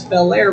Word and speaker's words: Belair: it's right there whatever how do you spell it mom she said b-e-l new word a i r I said Mom that's Belair Road she said that's what I said Blair Road yeah so uh hopefully